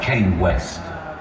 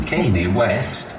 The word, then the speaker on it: Kanye West: the phone especially if it's for someone like kane west sorry I mean Kanye West come West oh sorry Mr as you can see it's